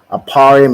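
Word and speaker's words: אפרים: Aparium is how you say Ephraim in the Hebrew, and it means I am doubly fruitful, right?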